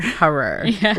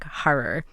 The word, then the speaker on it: Harrer: Harrer. We looked it up. This is as best as we understand how to say his name, Heinrich Harrer.